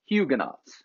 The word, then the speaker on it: Huguenots: And once again, Catholics on one side, and not Lutherans this time, but Calvinists, specifically Huguenots, or Huguenots, if you're going to pronounce it in the English way, on the other side.